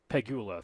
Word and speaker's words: Pegula: Jed York, the Niners, and then the Bills owner was the Pegula or whatever it is, or Pegula or whatever it's pronounced. Whatever it is. Pegula, thank you.